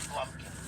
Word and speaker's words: blumpkin: And then I Googled the word blumpkin. Oh, It's a word that's in the Urban Dictionary. Oh, yeah. So have your listeners Google the word blumpkin. It rhymes with pumpkin.